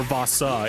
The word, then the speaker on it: Voss: Voss. One syllable. It's Voss.